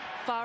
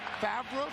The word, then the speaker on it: Favre: I have to say that every time, I know it's pronounced Favre, but every time I see the jersey, I think there's a misspelling there. Did you, Favre.